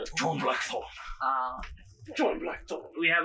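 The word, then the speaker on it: John Blackthorne: John blackor lady Muro you got to say his name like John blackor uh John blackor we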